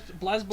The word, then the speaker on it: BlazBlue: me to really give up an honest opinion blazblue do you know how I know it's pronounced that because there was like a stupid